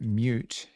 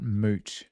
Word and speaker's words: mut: it like and also it's very important that you pronounce it mute and not mot because it's not mutable a CX hey SX